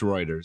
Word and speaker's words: Reuters: It's Reuters.